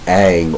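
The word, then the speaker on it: Ingres: named j a d Ang or Jean AUST Dominique Al um i n g r s in French is pronounced Ang like a NG and this is this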